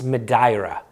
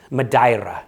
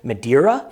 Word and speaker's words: Madeira: have always called Madeira um but it is pronounced by the Portuguese medira madira you have to say it with a little